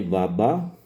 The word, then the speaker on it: baba: Si se dan cuenta, también tiene baba. El africano lo pronuncia con doble acento en las dos A, baba.